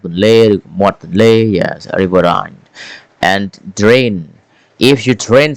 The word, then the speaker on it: riverine: Riverine. There is Oh, sorry. Let's pronounce this word again. We pronounce it riverine.